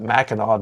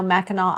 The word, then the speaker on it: Mackinac: Why do they spell it that way? It's with a C. Everybody knows that Mackinac doesn't end in a C, but apparently in Michigan it does.